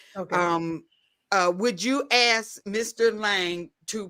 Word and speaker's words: Lange: So they don't say Lang. Lang is German, but my father says Lange. Yeah, and that's we where that got comes somebody from. in here, and they keep saying hard G.